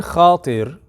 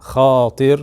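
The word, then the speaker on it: خاطر: Okay, so the word khatir, the way it's pronounced in this form, khatir with the alif, it means a passing thought.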